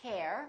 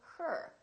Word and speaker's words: her: her h e are we don't say hair we say her I love her I